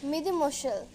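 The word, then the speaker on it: mesdemoiselles: We say Midi Mushal. What is Midi Mushal is? We say ladies. Spelling is different, pronunciation is different.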